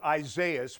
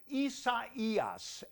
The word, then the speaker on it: Isaias: let's take a look but first uh let's pronounce it i thought it would be isaias but i could not be any more wrong the hurricane center says it is pronounced isa eos and that's the last time i'm going to